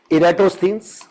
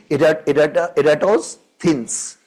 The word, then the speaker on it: Eratosthenes: Means we Indians go for a wrong pronunciation. Eratosthenes, but the original pronunciation would be Eratosthenes. So we'll say it Eratosthenes.